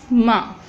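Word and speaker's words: م: The letter ma is pronounced by, we can pronounce it by joining the dry part of our lips. The dry part on which you can see that part in the picture, which is dry part. We join both dry parts to pronounce ma. Ma.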